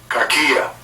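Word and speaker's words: κακία: All right, the Greek word for malice right there is pronounced as such. Strong's G 2549. Kakia.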